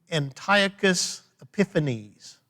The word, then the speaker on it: Antiochus Epiphanes: weird named weird dude antiochus epiphanes all right let me spell that for you a-n-t-i-o-c-h-u-s like antioch antiochus epiphanes e-p-i-p-h-a-n-e-s antiochus epiphanes now who